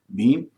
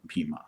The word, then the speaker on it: Bhima: Or the Hindi belt or Hindi associated languages, they'll say Ram, Bhim. And South Indian will say Rama, Bhima. So you can say whichever. The absolute correct one would be the Sanskrit pronunciation, which is Rama and Bhima.